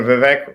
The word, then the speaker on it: Vivek: but like you know Vivek ramaswami just sounds like rhymes with cake rhymes with cake rhymes